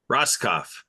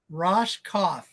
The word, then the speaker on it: Roskopf: Roskopf. Roskopf. Yeah. So the Q is silent, huh?